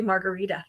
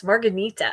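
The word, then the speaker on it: Marghanita: Why do I always say Margarita when I see her name? It's Marggonita, I believe.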